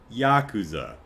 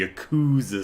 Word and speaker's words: Yakuza: So why do so many in the enthusiast press keep referring to the series as the Yakuza series? Probably because that's how they heard someone else pronounce it, and that person heard someone else pronounce it that way, and no one really knows Japanese phonetics, so they don't know how it's actually pronounced.